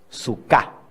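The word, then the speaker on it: סוכה: En hebreo se dice suká. Suká. ¿Cómo se dice? Suká. Acuérdense de su casa.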